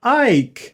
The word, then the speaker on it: Icke: the name of uh david ike david ike whose name is almost spelled like david icky yes so david icky